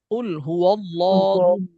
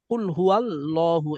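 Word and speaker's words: قُلْ هُوَ ٱللَّهُ: আমি পরের কথাটা বললাম আপনারা হচ্ছে ধরবেন চিকন করে কুল হুয়াল এভাবে ধরবেন কুলহুয়াল্লাহু এভাবে বলবেন কিন্তু কি করতে হবে ধরতেই হবে মোটা করে কুলহুয়াল কুলহুয়াল ধরতেই হবে মোটা করে কুলহু আল্লাহু আচ্ছা তো এবার হচ্ছে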